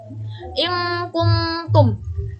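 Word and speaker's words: إن كنتم: In kuntum, hukumnya ifa karena huruf nun sukun bertemu huruf kaf. Cara membacanya sama dengan dengung, pengucapannya nun sukun menjadi seperti eng.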